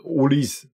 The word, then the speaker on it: Olise: gön dir Chico ausgesprochen Olis das E hat keinen Akzent und somit ist das E stumm okay also Olis the king